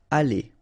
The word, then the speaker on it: aller: Aller, okay? R at the end, when you combine then, you pronounce it E, aller.